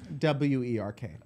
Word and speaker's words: werk: W-E-R-K.